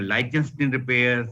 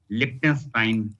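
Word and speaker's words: Lichtenstein: the lens Prim some people call it a Lenin repair some people call Lenin repair but the correct pronunciation which is there is the lonstein tension free repair and then you can have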